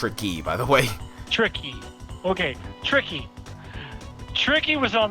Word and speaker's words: Tricky: this game which came out in 1997 it's pronounced Ricky by the way tricky okay tricky tricky was on this game back